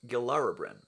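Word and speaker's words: Gilarabrywn: Another problem child has always been the flying thingy thing, which is actually pronounced Gilarabrin. The Y at the end of that is sort of a Welsh sound to it.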